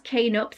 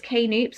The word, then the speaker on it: Knoops: I can just pronounce K-Noops actually. Someone told me at work it's K-Noops or K-Noops, like it's not Knoops. I always want to say Knoops, but it's not.